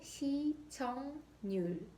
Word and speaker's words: 시청률: 발음은 시청률.